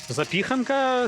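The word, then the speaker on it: zapiekanka: запіханка з сиром запіканка запіханка да запіканка вже ж запіха в польській мові же ж на передостанній слог ставляться наголос так у польській запіханка сиром тоді запікан запікан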